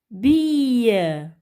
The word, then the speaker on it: bille: C'est une bille.